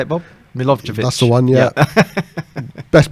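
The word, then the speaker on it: Milivojević: Milovic.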